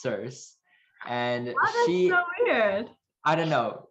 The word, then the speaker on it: Circe: So, the verdict is that it is pronounced Circe, and she I don't know.